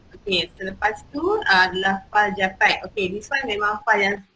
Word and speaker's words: JPEG: So JPEG ni adalah Joint Photographic Experts Group and pronounced as JPEG.